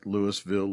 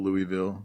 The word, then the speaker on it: Louisville: there who says right Louisville Louisville Louisville you gotta leave something out so the S is silent I guess that's just